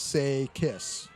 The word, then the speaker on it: Seis: Shore Alex s or seis uh the pronunciation is seiss and it said all